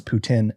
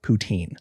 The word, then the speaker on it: Putin: on how to say Putin. It is Putin, not Poutine.